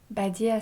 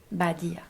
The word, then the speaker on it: Badija: Badia, ça s'écrit Badija. Badia.